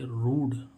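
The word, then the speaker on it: rude: यू डी ठीक है तो एक यू के बाद एक कंसोनेंट यानी कि व्यंजन छोड़कर य आ रहा है तो इसका उच्चारण क्या हो बड़ा ऊ स इसको हम क्या पढ़ेंगे रूड रूड मींस क्या होता है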